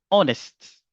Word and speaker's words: honest: Vous savez, il y a des mots qui commencent par la lettre H et la lettre H, c'est une lettre muette. Comme par exemple euh honest, honest, vous allez dire